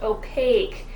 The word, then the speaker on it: opaque: right publish it now this has an a sound and notice for the Q you eat we have a long sound opaque that means you can't